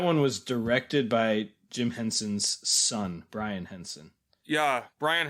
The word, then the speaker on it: Henson: jim henson's wife jane henson was also involved and i know i'm pretty sure i often mispronounce this name as hanson instead of henson i've probably done it